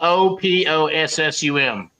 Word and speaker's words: opossum: Possum is spelled O-P-O-S-S-U-M. O-P-O. So it's opossum.